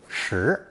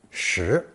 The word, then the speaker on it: 拾: Since this character is pronounced the same as the number 10, shi, it was chosen as